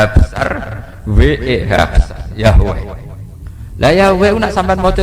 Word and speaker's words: Yahweh: Ya paham ya, Tuhan Yahudi tunggal niku Yahweh, napa? Yahweh. Iku nak teng ejaan Latin Y besar A H besar W-E-H Yahweh.